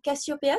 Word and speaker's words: Casiopeea: Bonjour, on est aujourd'hui sur Radio Cyclo, la radio 100% vélo, avec Nathalie David de l'association Cassiopéa, c'est bien comme ça qu'on prononce?